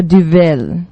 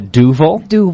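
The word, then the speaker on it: Duvel: a golden nail and that's the DU that's how I pronounce it we've heard it differently though too from really good Belgian Belgian beer brewers even yeah we often hear a duil is one way that people say it or duel what's the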